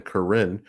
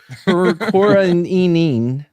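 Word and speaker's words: Corinne: God to be fair some people might pronounce that first name Karin but well they're dumb Corin yeah all right so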